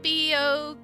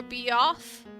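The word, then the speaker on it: Beogh: him seeing me oh wouldn't boo be pronounced Bo or be off oh that's a good point cuz it is b e o g h so like how British people say van go vanoff so I guess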